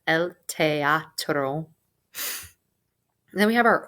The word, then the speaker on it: teatro: Pronounce every letter in that word. El teatro.